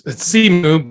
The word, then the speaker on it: Simu: Legends Shang-Chi, played by Simu Liu. If I pronounce that correctly, did I? It's Simu, but it's fine.